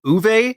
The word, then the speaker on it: Uwe: Okay, so everyone thinks it's you, but it's Uwe is how you actually say his name.